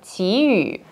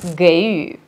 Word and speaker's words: 给予: И еще обращаю ваше внимание на произношение слова «тию» – «давать». Дилираба произносит его нормативно, тогда как в речи у других носителей мы можем слышать ненормативный вариант «гэйю».